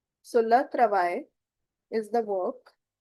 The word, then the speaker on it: travail: This is I sound. I. Simply the sound is English ka I. So le travail is the work.